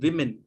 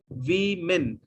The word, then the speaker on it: women: more than one lady we call it women pronunciation is women spelling w m women women okay next is